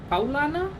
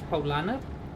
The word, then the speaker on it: Paulaner: of German import are Paulaner, which is written as, like, you would read it if you don't read it in German as Paulaner, and Franziskaner, which would